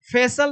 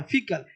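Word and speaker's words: faecal: अब इसको फेसल नहीं बोलना है। फिकल इसका साउंड होगा फी फिकल।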